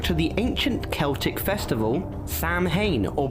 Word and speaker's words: Samhain: Alright folks, let’s start at the beginning… Halloween goes back to the ancient Celtic festival Samhain or pronounced “sow-in”.